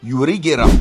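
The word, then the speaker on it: ユリ・ゲラー: se prononce yungera lui il s'appelle yurigerer et ça sonne quasiment pareil en japonais puisque ça se dit yurigera le Pokémon censé lui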